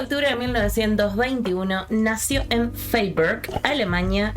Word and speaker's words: Freiburg: El 28 de octubre de 1921 nació en Freiburg, Alemania. No sé cómo se pronuncia, pero la diré así. Freiberg. Freiberg. Vos preguntándome.